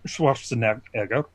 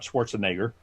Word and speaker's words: Schwarzenegger: Schwarzenegger, and that's actually the proper way of pronouncing it is Schwarzenegger, not Schwarzenegger.